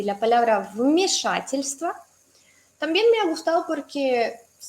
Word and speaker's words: вмешательство: Si tienes problemas con pronunciar 3 consonantes seguidas, tienes que separarlas en parejitas. ¿Sí? Decir st, luego tva, luego stva y stva.